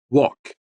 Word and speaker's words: walk: Walk.